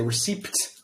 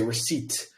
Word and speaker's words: receipt: let's continue receipt uh the p is silent we do not say receipt we say receipt uh and this is